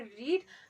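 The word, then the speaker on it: read: English में कहते हैं रीड तो रीड की थर्ड फॉर्म क्या होती है रीड रेड ठीक है री रेड रेड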